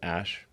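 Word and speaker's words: Æ: x um and then the ae is like pronounced ash yeah and then uh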